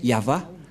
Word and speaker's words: Yahvah: placé au milieu c'est l'alphabet hébreu qui est prononcé yava et dans Genèse 21 33 ou bchit on